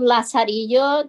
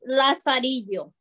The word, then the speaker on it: Lazarillo: And it goes Lazarillo. So L-A-Z-A-R-I-L-L, like in... Yeah. And it talks. Pronounced like a Y and then O.